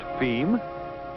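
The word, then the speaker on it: fim: And as for distribution within Brazil, F-I-M, pronounced FEM, being, yes, you've guessed it, Portuguese for the end.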